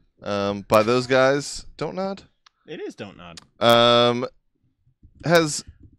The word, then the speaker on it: Don't Nod: Don't nod. It is Don't Nod. Has I heard somebody pronounce it Don't Nod the other day, and I wanted to punch him.